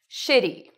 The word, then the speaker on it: shitty: And shit is longer and louder. Shitty.